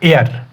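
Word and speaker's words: heir: अब देख लीजिए आगे हम देखते हैं ए एयर एन एयर देखिए अब हमें लगेगा ये हियर है हियर लेकिन इसकी प्रोनाउंसिएशन जो है वो है एयर एयर ठीक है तो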